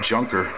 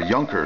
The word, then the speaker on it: Junker: It's a junker. Or Junker. It's pronounced Junker, though. It's spelled J-U-N-K-E-R.